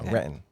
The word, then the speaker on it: Renton: Renton. Renton. Renton. Renton. I was born and raised in Reton mostly. So Reton.